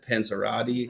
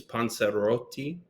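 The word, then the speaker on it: Panzerotti: You said Panzanella, then you said Panzerati. Panerati. I've heard everything panser to pansi. So the real the pronunciation's panseroti, but can't expect everybody to have like I can't roll the r that way.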